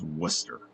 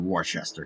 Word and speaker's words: Worcester: How the heck is it pronounced Worcester? How you going to tell me that that's not Wararchchester?